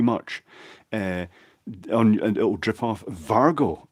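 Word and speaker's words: Wago: Vargo is the pronunciation.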